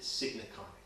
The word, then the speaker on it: signaconic: It's sign, S-I-G-N, and icon, but I pronounce it signaconic.